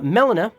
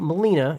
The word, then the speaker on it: Melina: uh last off uh Melina that's how you say it not Molina it's Melina uh Melina